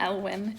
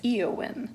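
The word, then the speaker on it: Éowyn: Lord of the Rings it's not Elwyn it's eowin there's no Elf or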